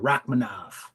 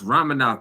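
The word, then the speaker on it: Rakhmonov: Rachmanov. Nah, it's Romanov, dog. The K, like the K is silent. If you look at where he's from, I'm pretty sure the K is silent in their vernacular. Okay.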